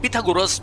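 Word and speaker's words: Pythagoras: लेकिन here we आर और यही पाइथागोरस या जैसे ये अपना नाम प्रोनाउंस करते हैं पिथागोरस तो ये एलेक्सियोस के पापा हैं।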